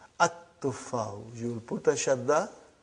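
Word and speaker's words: التُّفَّاحُ: So you will pronounce as at-tuffahu.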